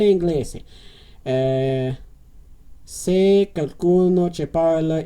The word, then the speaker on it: inglese: Okay, so they pronounce the E at the end, so it's parla inglese. Se qualcuno che parla inglese.